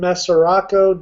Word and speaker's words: Mesoraco: anything but the Cincinnati Reds catcher today Devin mesoraco Devin mes I don't know how you pronounce his last nameco you just said it